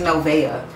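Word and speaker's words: Noveau: The first time I went to that restaurant, the girl was like, it's Novea. But it's not spelled like Novea. It's spelled like Novu. It sounds similar to Nobu, but it's Novu.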